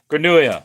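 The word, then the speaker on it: grenouille: So L is like a Y really is how you say a frog. Granua. All right. Granuia.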